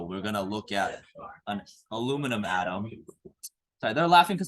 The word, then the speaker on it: aluminium: I want you guys to write the ground state electron configuration of aluminum. Aluminum. Did you know in Australia they call it aluminium?